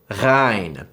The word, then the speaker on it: غ: Ghain. This is the exact same as the French R sound found in words like rêve, rapide, and radio.